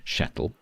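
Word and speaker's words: Kjetil: It starts with a K. How is that sh? How in a in like a phonetic Germanic language, how does K become sh.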